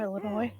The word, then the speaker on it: Illinois: Looks at you pronouncing the S on Illinois.